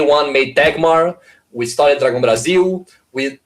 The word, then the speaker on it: Dragão Brasil: The nasal diphthong is impossible. So would you like to say it properly real quick? Dragão Brasil.